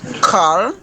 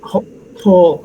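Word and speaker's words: כל: et Oved Edom ve'et Kal In this case, we pronounce it kol.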